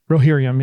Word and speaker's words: Rohirrim: One, the War of the Rohirrim, did I say it right? Rohirrim, yeah.